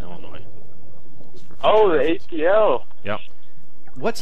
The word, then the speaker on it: Illinois: And the S is silent on Illinois.